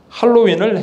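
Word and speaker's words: Halloween: 제가 재미난 걸 봤어요 한국의 매스컴에서 할로윈을 헬로윈이라고 발음하더라고요 아예 표기를 Hello win 오 그래서 왜 이렇게 하나 그래서 제가 딕셔너리를 들어가서 다 눌러 봤어요 호주 발음 영국 발음 다 눌러봤어요 다 할로윈이에요 할로윈 할로윈 할로윈 할로윈 할로윈 할로윈 할로윈이 차이 있지 할로윈인데 왜 헬로윈이라고 하나 뭐가 뭐가 썸띵 거기는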